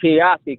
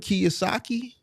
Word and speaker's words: Kiyosaki: I took Robert Kiyosaki class. So he was just teaching us how to tax the divorce. Robert Kiasaki.